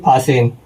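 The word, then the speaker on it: fasten: यहां पे साइनेंट हो जाएगा तो इसको पढ़ेंगे फासेन।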